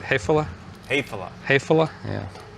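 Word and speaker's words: Häfele: Hefele?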